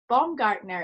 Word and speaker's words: Baumgartner: And today I'm so delighted to have with us Bongartner. Is that right? Am I pronounced? That's correct. Great. Bombgartner um who's a meditation teacher who used to